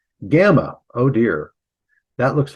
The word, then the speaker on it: gamma: So it's pronounced G, gamma, as in got.